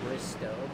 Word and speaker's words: Bristow: That's going to be pronounced Bristow. So Casey Bristow as in tow truck instead of tow.